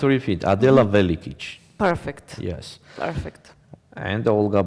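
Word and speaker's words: Adela Velikić: Board number 11, Adela Velikic against Olga Badelka. Nice pronunciation. Adela Velikic, bravo.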